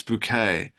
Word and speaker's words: Bucket: a British TV show higher since bucket uh and she said it's bouquet um that's good perfect